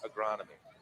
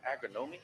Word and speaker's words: agronomy: I had to practice agronomy to say it right, because I was like, agronomy? No, agronomy.